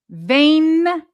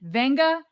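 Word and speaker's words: Vega: Vae Nga Yowani. Okay? We've heard him say it. It's in the Penn State pronunciation guide. It's Vae Nga pronounced with an N even though it's not spelled that way.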